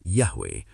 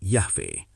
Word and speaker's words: Yahweh: Jadi transliterasi yang tepat secara historis adalah YHWH bukan YH dan pelafalannya adalah Yahwe bukan Yahve.